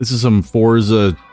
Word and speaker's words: Forza: Forza, like f O R T Z A. Fortza. I don't know where the T comes from, but a lot of people pronounce it for.